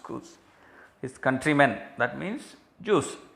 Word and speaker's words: Chus: Swear means make a strong, like a pledge, making a strong statement to Tubal, another Jew, to Cus or Chus, I suppose it should be pronounced Cus, his countrymen, that means